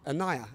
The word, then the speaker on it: Anaiya: So, welcome to Anaiya. Have I said that right? You did. You said it beautifully.